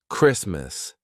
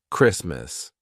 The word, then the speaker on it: Christmas: Also, when the T is in between two consonants, except for the letter R. All right. So, for example, Christmas. The T is in between two consonants S and M. Christmas. We don't say Christmas. We say Merry Christmas. Christmas. It's not Christmas.